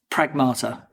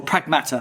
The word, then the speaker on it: Pragmata: It's called Pragmata or Pragmata, sorry, is how they say it.